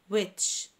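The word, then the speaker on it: which: ويتش، ويتش w h i c h، ال c h منطقهم تش.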